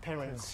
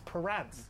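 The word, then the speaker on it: Perence: Let the his real name isn't parents. Exactly. It's Par. It's spelled P E R A N C E.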